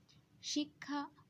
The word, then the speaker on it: শিক্ষা: শিক্ষা শব্দটার উচ্চারণেও আমরা স উচ্চারণ করছি, প্রথম অংশ হচ্ছে শিক, পরের অংশ খা।